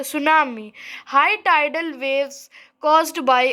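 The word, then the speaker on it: tsunami: सुनामी क्या होता है तस सुनामी नहीं बोला जाता है सुनामी बोला जाता क्योंकि उसका टी साइलेंट होता है।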